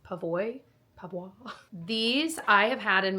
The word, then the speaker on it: PAVOI: I'm just gonna say it's pronounced Pavois.